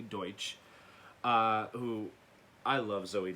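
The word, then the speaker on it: Deutch: movie uh zoe deutsch i thought it was dutch at first but then i heard her pronounce it and it's apparently zoe deutsch uh who i love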